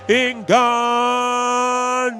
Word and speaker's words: Ngannou: Let me make sure I pronounce these names right because the pronunciation police Brian Stan just slaughtered it. Francis Ngannou.